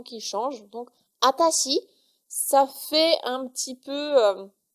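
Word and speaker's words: あたし: réservée aux femmes, c'est atashi. Atashi. Donc c'est la même chose que watashi, mais en fait on va enlever le W.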